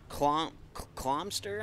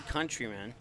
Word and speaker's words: Countryman: Clomster, I believe it is. No. Check that. It's not Clomster. It's actually Countryman.